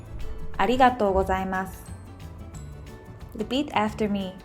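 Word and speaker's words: ありがとうございます: We Japanese usually skip u sound like ありがとうございます。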